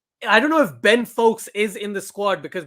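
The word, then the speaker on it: Foakes: Ben No, Folkes we've seen him play a few times. Right, okay. Did he? I remember because it rhymes with Wokes. And Stokes.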